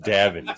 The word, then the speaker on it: Davan: My name is pronounced Davin, Sophia.